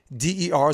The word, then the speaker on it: Schunder: Shunderword. Say it again. SHOONDER. So that's Schunder, and then Word.